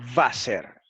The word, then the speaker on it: Wasser: Note, por ejemplo, que la letra alemana W se pronuncia como una V inglesa, no como una W inglesa y también española. Esto lo añadí yo, y española. Así, la palabra alemana Wasser, que significa agua, se pronuncia Wasser en alemán.